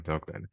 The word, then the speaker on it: Douglin: Am I pronouncing it correctly? Yes. Douglin, author of the book Made for More.